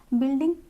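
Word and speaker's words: building: बिल्डिंग, you silent है।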